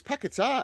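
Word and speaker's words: Paquetá: We had the debate on Paketa Pakatar. We've got to go. It's Pakatar. Everyone's saying Pakatar now.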